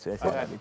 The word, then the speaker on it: Harari: Em, Creo que no se pronuncia el H, Harari, pero no importa.